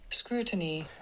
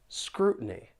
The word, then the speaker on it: scrutiny: with the American accent, when the T is followed by an N sound, people may pronounce it with a glottle T.